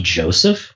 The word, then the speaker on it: Josiffe: I'm not sure how I pronounce it. I think it might be Joseph. Okay. Josiffe.